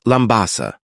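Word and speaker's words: Labasa: It is spelled Labbasa in English, but it is pronounced Lambasa.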